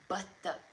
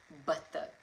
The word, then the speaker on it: બતક: You say batak, batak.